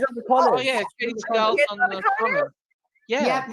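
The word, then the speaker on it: Katey Sagal: Katie Seagal, is that how you say her name?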